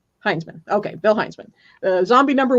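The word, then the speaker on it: Hinzman: Bill Hinsman? I never know if I'm pronouncing it correctly. Heinzman.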